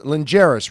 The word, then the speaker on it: Lingeris: Lingeris, right? Is it pronounced?